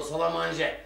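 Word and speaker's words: salle à manger: dermiş evi öyle yazıyor Hayır salaman olmaz salaman o salamanje salle Amer yazılır salaman okunur ay Siz İtalyanca da mı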